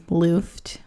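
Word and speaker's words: Luft: which is my last name is looft which is kind of like weird so that's how you say it yeah you know or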